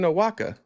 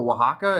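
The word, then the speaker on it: Oaxaca: what are you do in aaka no Waka it's like a oldest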